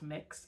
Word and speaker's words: Mx: It's MX. It's pronounced mix, and people still deliberately, in some cases, misunderstand that as miss.